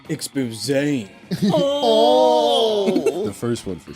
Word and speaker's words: exposé: It's pronounced exposé.